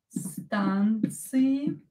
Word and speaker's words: станции: это слово около станции станции станции около станции Так секундочку ударение на букву А здесь около станции есть